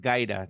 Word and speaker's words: Guida: do you pronounce your last name yeah it's pronounced GAA Dean g g okay okay I'm glad that